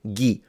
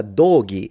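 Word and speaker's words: dōgi: ghee is the clothing so hey I need to go buy a new ghee no because it's it's a doggy in that point you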